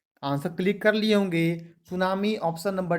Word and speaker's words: tsunami: सुनामी देखिए लिखा जाता है कैसे, TSUNAMI। देखिए लिखा जाता है स्पेलिंग इसका टी से। सुनामी को जब लिखते हैं इंग्लिश में तो लिखते हैं TSUNAMI।